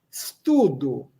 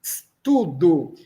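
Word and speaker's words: studu: Studo. A pronúncia desse s é sibilante. Studo.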